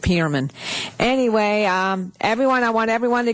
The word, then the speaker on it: Perlman: It's Pearman. Anyway, that's okay. In the South, they pronounce it Pearman.